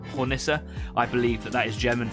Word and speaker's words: Hornisse: So yeah, in return, I made sure that I gave Stafford one of my, I hope I pronounced this right, Hornisse.